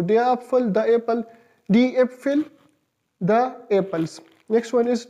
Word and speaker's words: Äpfel: These two dots has a vital role in the changing the pronunciation. So Apfel will be changed into Äpfel.